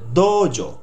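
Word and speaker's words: どうぞ: দোজো ইয়োরোশিকো, দোর পরে দেখুন এই উটা কোনো ওয়ার্ডের পাশে থাকবে সাধারণত, ওই পরে ওখানে একটু টানা উচ্চারণ দিতে হবে, একটু টান দিয়ে দোজো।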